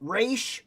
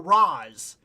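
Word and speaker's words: Ra's: just like with Batman everybody argues about about race or Roz they always argue some people say Roz al Ghul some people say race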